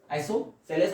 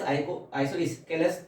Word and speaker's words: isosceles: अपन, आइसो, ठीक है, आइसोसेलेस, आइसोस्केलेस, दोनों में से जो भी नाम आपको सुटेबल लगे, क्योंकि दोनों ही प्रोनाउंसिएशन होते हैं, ठीक है।